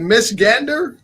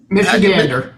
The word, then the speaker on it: Michigander: Louis big fan of Macallan oh no you got to tell me how to say this is it miss Gander Michigander I have got to tell you I'm a Michigander now mr.